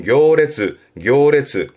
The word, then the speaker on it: 行列: 대표적으로는 행렬 가보지요. 발음은 교레츠.